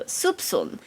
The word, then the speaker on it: soupçon: The C in that word is pronounced as an S, so soupçon.